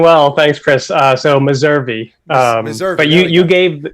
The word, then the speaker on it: Meservey: name even though he's told me how to pronounce it and i know it but it's mercer messa messari messer i've got it wrong how's it